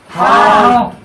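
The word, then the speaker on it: ح: হা।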